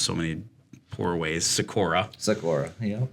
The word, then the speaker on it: Seykora: I've heard it pronounced so many poor ways. Seykora. Yeah. Seykora.